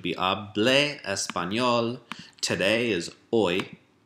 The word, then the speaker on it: hoy: Today is hoy. Don't pronounce the H.